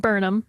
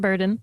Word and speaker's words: Burnham: like first of all it's pronounced burnham not burden yes second of all i'm